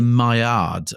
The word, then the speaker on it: Maillard: madame pointedly because I'm assuming from the spelling you've pronounced it uh in your your Romford English uh in a rather avankcular way, but I would imagine that it is the mayard reaction because we're talking about food and culinary skills.